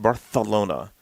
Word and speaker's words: Barcelona: from the 1992 olympics in barcelona spain it's pronounced barcelona this s the c is a th sound